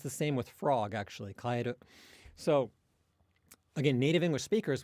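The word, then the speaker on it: 帰る: If you say the word for go home, it's kaeru, kaeru, with the accent on the first mora, kind of the first beat of the word.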